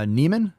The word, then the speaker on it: Neiman: maybe this is so they're not even saying it correctly so they're calling him newman and his account says neiman so quality reporting there